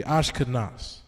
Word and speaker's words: Ashkenaz: Their biblical names, instead of it being German, it'd be Ashkenaz.